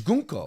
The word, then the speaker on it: Gunko: By the way, how do you say Gunko? I said Gunko. It's Gunko. Gunko, yeah. Okay, because I keep saying Gunko and people are like, you're saying it wrong.